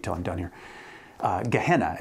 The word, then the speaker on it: Gehenna: I'm done here uh gehenna is how you say the in the original language means Valley of hom